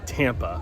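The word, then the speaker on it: Tâmpa: For me, I wanted to go to the top of this mountain because it's spelt Tampa, which is the name of the city in which I was born. I know it's pronounced Timpa, but to me it's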